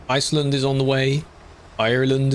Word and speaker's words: Ireland: Ireland is on the way. I have to say it like that otherwise it sounds like I'm saying island.